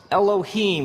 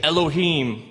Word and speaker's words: Elohim: it would look something like this and it's pronounced elohim let me hear you say elohim in the beginning elohim created the heavens and